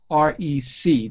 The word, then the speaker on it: recreation: The prefix is re, it's true, but the word is REC. That's where we divide the syllable. Rec. Rec. Exactly. Most, at least American speakers, will say recreation.